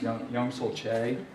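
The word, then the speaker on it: Choi Yong-sul: His name is right here, and it's pronounced Young-Sul Che.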